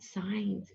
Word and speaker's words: signs: see another silent letter look at the word signs at the bottom of the page the G is quiet there's that n making